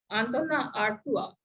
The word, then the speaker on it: Antonin Artaud: Theatre of Cruelty, which is by Antona Artua. So the name is written as Antonin Artaud, but it is pronounced as Antona Artua in French.